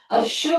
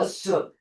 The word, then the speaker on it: assume: 이 발음이 아니야. SH 아니야. 슈퍼마켓, 슈퍼맨, 슈퍼마켓, 슈퍼맨 아니라고. assume 아니고 assume.